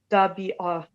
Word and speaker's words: تبعة: تبعة تبعة. So there is no jerk at the end like a ha sound at the end.